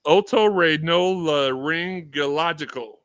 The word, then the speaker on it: otorhinolaryngological: It is otorhinolaryngological.